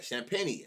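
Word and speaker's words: Champagnie: Okay, Champagny.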